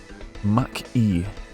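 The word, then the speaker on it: Mach-E: That was that Mustang Mark E or Mustang Marquee? Mustang M A C Mach E. You know, like speed of sound E times speed of sound.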